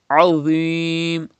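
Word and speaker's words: عظيم: And dha is pronounced without whistle sound. Do not read azim, but read without whistle and thicker voice.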